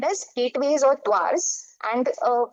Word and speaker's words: Duar: We call it the Duars. Okay, Duar is a mispronunciation of the Hindi word Dwar or door.